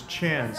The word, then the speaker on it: Chan: His family name is Chan, like Jackie Chan, C-H-A-N.